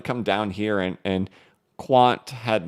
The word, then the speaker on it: Quant: don't own q&t and I've been calling it quaint all this time two it was two xrp Las Vegas's ago that somebody a nice lady who watches the channel had to tell me it's pronounced Quant uh uh but it's